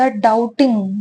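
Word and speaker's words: doubting: है डाउटिंग ठीक है डाउट में या फिर डाउटिंग में जो बी होता है वह साइलेंट होता है ठीक है तो उसको डाउट बोलते हैं डॉप्ट नहीं बोलते हैं ठीक है डाउटिंग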